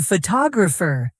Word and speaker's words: photographer: In photograph, the stress is on the first syllable, but in photographer, it moves to the second.